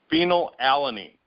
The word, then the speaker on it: phenylalanine: How do you pronounce that? Phenylalanine.